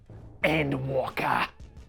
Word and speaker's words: Endwalker: You gotta say it like Nomak in Blade 2 instead of Daywalker. Endwalker. You got to every single time. You cannot say it unless you pronounce it that way.